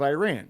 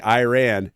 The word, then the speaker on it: Iran: pronunciation button and say us Americans especially US Army vets like to say Iran it's Iran so for future yeah I